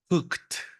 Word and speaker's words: cooked: t pues la Ed sonará a t como cooked cooked por supuesto se escribe cooked Sí pero nunca debe de sonar se los dije la primera regla es que si suena a Ed la pronunciación está mal Entonces cooked vamos a